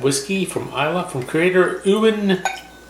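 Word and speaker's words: Euan: from isla from creator owen campbell i assume it's how you say it e-u-a-n i will accept any combination of vowel sounds sure this whiskey is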